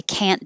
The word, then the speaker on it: can't: negative word can't but you won't say the t so it will sound like can but that's negative so it will sound like i can't do that and if you move your head that helps a lot too i can't do that i'm sorry i can't do that can't that's it you hold your tongue in the end position instead of releasing it for the t i can't however if